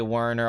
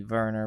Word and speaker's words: Werner: but that's life hurts you know it's like Verner Herzog I know a lot of people say Werner although I kind of noise me because it supposed to be Verner but uh we don't we don't do that